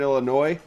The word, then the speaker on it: Illinois: performer hails from southern illinois notice i did not pronounce the s yes and is a